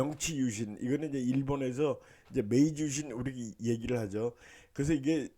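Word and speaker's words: 明治維新: 그러니까 명치유신 이거는 이제 일본에서 이제 메이지유신 우리 얘기를 하죠. 그래서 이게 일본 역사에서는 굉장히 중요한 사건이었어요. 1868년입니다. 1968년이에요. 1868년에 이제 명치유신, 메이지유신, 일본 발음은 이제 메이지라고 하는데 메이지 천황 때 이게 있었습니다.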